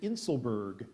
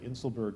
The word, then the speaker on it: inselberg: what we're looking for here the word is inselberg and it is a singular noun an isolated